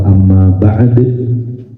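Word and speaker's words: أما بعد: Kalau orang ahli Quran membacanya ya amma ba'd. Kalau amma ba' berarti belum belajar Quran.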